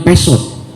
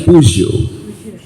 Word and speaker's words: Peugeot: Itu dibilang pesot. Oh, pesot padahal motor. Pesot. Itu mobil Prancis, dibacanya Peugeot. Ya, Peugeot.